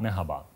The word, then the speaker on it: Merhaba: Und Sie haben sogar die Aussprache vollkommen richtig gebracht, denn die Betonung liegt auf der ersten Silbe und es ist ein gerolltes R, das, was mir absolut fehlt. Guten Tag, Merhaba.